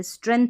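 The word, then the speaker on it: strength: हुए तो emotional स्ट्रेंथ एस टी आर यहां पर जी जो है साइलेंट है स्ट्रेंथ पढ़ेंगे स्ट्रेंथ यानी शक्ति और ताकत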